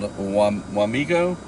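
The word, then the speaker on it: Wamego: Like watch me go. Wamigo.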